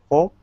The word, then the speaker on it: folk: One of these has a silent L in it. Do you know which one, Tarek? Folk. Yes, very good.